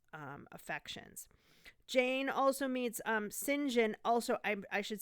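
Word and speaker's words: St. John: jane also meets um sinjin also i i should say this his name is spelled saint john but it's pronounced sinjin um a victorian name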